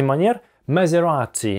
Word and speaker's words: Maserati: Название Maserati произносится по-итальянски: Maserati .